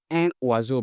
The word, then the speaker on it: un oiseau: As here, you make a link, we pronounce as un oiseau, un oiseau. It's written un oiseau, but we pronounce un oiseau so that the sound can be good.